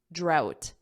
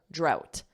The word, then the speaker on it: drought: pronounce this say it drought out out so leave out out it's that sound out and then with a d d drought drought and of course a